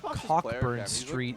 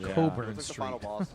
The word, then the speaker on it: Cockburn Street: I like that he just played that the same way where he's like, by the way, in Edinburgh, Cockburn Street is pronounced Coburn Street.